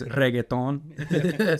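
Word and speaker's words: reggaetón: That's the English version, but it's reggaeton. Spanish. But you don't have to roll your R that crazy.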